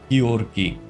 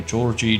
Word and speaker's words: Georgi: My name is pronounced Georgi. Georgi. A lot of people call me Georgie, George, etc., but it is Georgi.